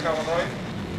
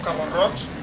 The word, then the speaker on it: Cabo Roig: Torres Vigías, la torre de Cabo Roy, o Cabo Roig, no sabemos muy bien cómo pronunciarlo, los oriolanos tenemos ahí esa doble pronunciación que nos retrotrae a los tiempos de la habla valenciana, pero también a la castellanización.